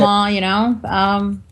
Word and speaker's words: Lenormand: Lenormand. Okay, that's right. There's so many different ways I've heard them say it. Yeah, Pronounce it. Lenormand, it's, tomato.